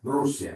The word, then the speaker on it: Rússia: Quan és doble S, la pronunciació com el castellà. Rússia.